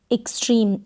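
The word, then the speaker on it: extreme: ई एक्स को यहाँ पर एक्स पढ़ेंगे, ई और आधा क और स के रूप में एक्स को प्रोनाउंस किया जाता है एक्स। एक्स, टी को ट, आर को र, ई को ई और म। एक्सट्रीम, एक्सट्रीम और लास्ट में ई को प्रोनाउंस नहीं करेंगे।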